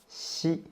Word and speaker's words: xi: Xi is an aspirated consonant, and it has the same way as when you pronounce qi. Compared to qi, xi is more smooth, and you can feel there's no friction at all in your throat.